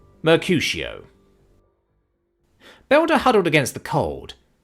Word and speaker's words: Mercutio: It's pronounced Mercutio.